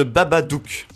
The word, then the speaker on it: Babadook: The Babadook. C'est Baba, comme Baba Brom. Comme Baba Bibel. Comme Babelwed. Non, c'est Baba. C'est pas Babel. C'est The Babadook.